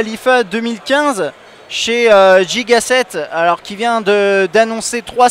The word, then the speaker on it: Gigaset: Alors Gigaset ou Gigaset, prononcé comme il faut, c'est une marque qu'on connaît